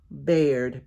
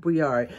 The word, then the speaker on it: Baird: It's called Dan Baird. I'm going to try to zoom in a little bit so you guys can see that signature. Dan Baird, B-A-I-R-D, not Briard.